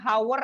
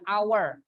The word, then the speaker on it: hour: Ya, tapi pengucapannya bukan hour ya, hour.